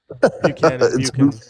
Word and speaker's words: Buchanan: Was it Ban or Buchanan? Buchanan. Yeah. Buchanan.